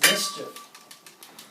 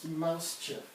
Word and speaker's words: Mouse Chief: He's the founder of Mouse Chief. That's mischief. Oh. Mouse Chief. Mischief. It's spelled Mouse Chief. You should tell him one more time and he'll be right. Mouse chip.